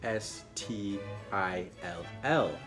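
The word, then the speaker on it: styll: Again, kind of like soft, it's pronounced the exact same, but is actually spelled differently. Normally still is spelled S-T-I-L-L. This one is spelled S-T-Y-L-L.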